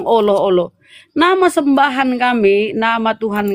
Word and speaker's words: Allah: Double L di situ kau sebut alah alah. Alah. Pantasnya alam Allah. Dou L. Kau aja enggak pandai ejaan berbahasa Indonesia yang baik dan benar. Allah. Enggak ada bilang oloh-oloh. Ada orang bilang Allah.